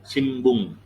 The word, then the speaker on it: shimbun: N ketemu B dibacanya M, shimbun.